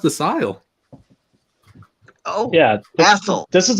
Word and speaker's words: Asyl: Central Scrutinizer says, isn't Asile pronounced Asul? It's been a long time since I spoke any German. No, it's pronounced Asile.